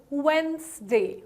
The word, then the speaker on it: Wednesday: D here Wednesday the D here is more or less silent right so whenever you pronounce it you're gonna call it Wednesday right Wednesday okay what is this